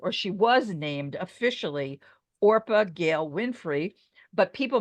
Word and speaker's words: Orpah: to be named or she was named officially orpa Gail Winfrey but people mispronounced it so often that that's how she